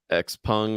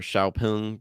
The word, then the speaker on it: XPeng: Xpeng or Xiaopeng, depends on how you want to pronounce it. Chopin, yeah. Xiaopeng.